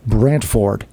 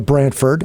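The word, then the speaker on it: Brantford: he was a stickler it is pronounced Brandford there is a t and there not f r d it's o r d yeah and that was difficult for us announcers because it was almost too over pronounced absolutely the people who live there call it Branford and that's acceptable no but again we're the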